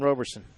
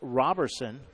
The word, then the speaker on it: Robertson: First and second with 2 outs for Jackson Roberson. It's actually, my apologies, it's pronounced Robertson.